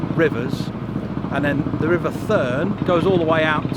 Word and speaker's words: Thurne: So the last time you saw us we were on the River Bure, and now we're on the River Thurne, Thurne. I'm sure that's how you pronounce it.